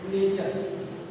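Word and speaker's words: nature: जैसे example नेचर, अब यहाँ पर TURE साथ में आया है तो TURE को हम चर पढ़ेंगे, तो हमारा हो जाएगा नेचर।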